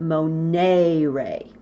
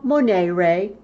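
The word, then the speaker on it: monēre: to stress that long e I like to pronounce it Monet ray so I say Moneo Monet ray mo nuit Monique tiss you know it kind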